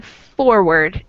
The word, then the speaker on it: forward: Mm-hmm, we have the emphasis on the second syllable in reward. We put more stress on ward, and in forward, we put more stress on for. So our emphasis is on the first syllable in forward, not reward.